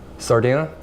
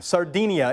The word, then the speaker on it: Sardinia: located northwest of sicily sardina sardina i'll give that to you sardinia is the pronunciation but you were right